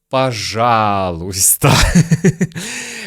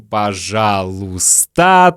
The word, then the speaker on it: пожалуйста: пишем «пожалуйста», но говорим «пожалуйста», то есть не произносим «и» краткое. Друзья, мы редко говорим «пожалуйста», мы говорим быстро, мы съедаем звуки.